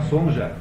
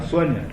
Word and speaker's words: Sonja: Por isso, quando você vê uma Sônia por aí com J, não é para falar Sonja, é para falar Sônia, porque em alemão Sônia escreve com J e não com I, não é?